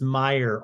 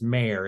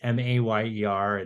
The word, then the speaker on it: Mayer: I got it because my last name gets pronounced Meyer all the time, and it's Mayer. It's Mayer. Yeah, just like John Mayer.